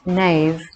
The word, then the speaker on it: Neam: The name word Neamruaid is composed of two syllables, the first Neam, pronounced nave, meaning heaven, and the second Riod, meaning red.